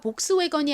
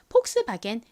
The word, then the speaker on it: Volkswagen: 스 wen이라고 읽습니다 Volkswagen 하지만이 차는 영어가 아니라 원어 자체가 독일어라이 차 이름을 저희가 복스 웨건이 아닌 폭스바겐 읽는 거죠 론 독일 사람이 저희가